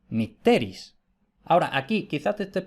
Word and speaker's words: mitteris: Entonces, según eso, si la penúltima es breve, el acento se retrotrae a la sílaba anterior. Por eso, mitteris. En cambio, si la E, en este ejemplo, si la E es larga, el acento recae en esa sílaba, mitteris.